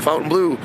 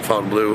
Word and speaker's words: Fontainebleau: the Fontaine Blue the fountain blue some people pronounce it one way I pronounce it Fountain Blue that's basically uh the